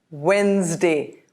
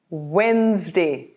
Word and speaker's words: Wednesday: Wednesday? Wednesday. Wednesday. Notice the D in the middle is silent. There are some other words in English also where the D is silent.